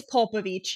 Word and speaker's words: Popovich: Yeah, no, it's Popovich. You're right. It's Popovich. It's P-O.